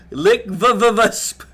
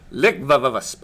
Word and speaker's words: LCVVVSP: That promotion is a lengthy title, but you can always say LCVVVSP for short, pronounced Lickvavavusp. Lickvavavusp.